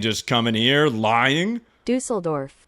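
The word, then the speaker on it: Düsseldorf: Dusseldorf. That's how you say it. Dusseldorf.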